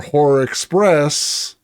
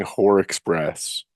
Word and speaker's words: Horror Express: a 3point trailer for horror Express going to I miss my diet Aubrey Plaza it sounds like you're saying hor Express hor Express what are